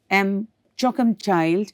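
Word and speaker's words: M'Choakumchild: The name of the school itself, M. Choakumchild, has a lot to say. On pronunciation, it sounds like choking the child.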